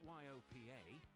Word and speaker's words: Yopa: It's not YOPA, it's Yopa. Local agents, low fee, complete control.